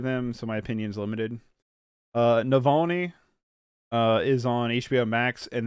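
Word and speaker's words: Навальный: Navalny won, and they mispronounced it. Questlove mispronounced it. Navalny. Navalny, ain't it? Pretty sure it's Navalny.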